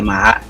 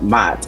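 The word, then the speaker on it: Maat: And that's why and that's what they call the ma, not mat.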